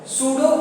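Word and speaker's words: pseudo: बोलते हैं वहां पे ये पी जो है साइलेंट है सुडोकू पोडियम आप सुडो मतलब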